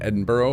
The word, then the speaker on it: Edinburgh: How would you pronounce uh Edinburgh? That's how you say that one, right? Cuz I know that one in American looks like Edinburg, but I don't think it's actually said that way as all at all.